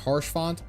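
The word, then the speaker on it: Haurchefant: I'm over here and then I'm away is pronounced harsh font Wallace thank you just hary is fine I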